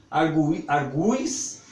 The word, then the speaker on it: argui: Mas essas palavras nós vamos pronunciar sempre como se tivesse com esse U mais forte.